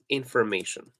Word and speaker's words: information: And if you notice in the pronunciation that Google gives us, may is it's written in bold, right? It's written in bold, and this means that it is stressed.